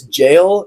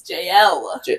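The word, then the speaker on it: Jael: It is Jail and the woman It's of not pronounced Tebez. jail, it's JL.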